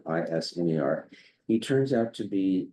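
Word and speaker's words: Isermann: And the one we selected was Jim Iserman, is the way he pronounces it, Isner.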